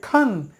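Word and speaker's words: Khan: যেটা সঠিক উচ্চারণ হবে খান। এর উচ্চারণ হবে খ।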